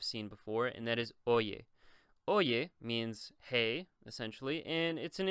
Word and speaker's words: oye: And then the Y right here, the Y, is going to be oye. So it's pronounced like a Y, just like in English, a U or yield, what have you.